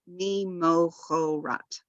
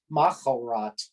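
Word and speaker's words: ממחרת: be O, and then this third letter has the Chataf Kamatz, so be mimochorat. Now, interestingly, Trope Trainer, I think, pronounces it machorat. Yeah, I don't hear so much of the O sound in Trope Trainer, but okay, cool.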